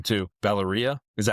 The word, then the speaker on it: Valeria: Valeria, yeah.